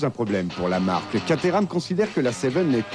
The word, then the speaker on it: Caterham: Nous sommes sur la colline de Caterham, prononcée Caterham, à quelques kilomètres au sud de Londres.